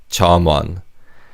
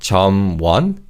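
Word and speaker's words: 점원: In terms of pronunciation, the machim in the first syllable carries over to the second syllable one. So it's not chan, it's char.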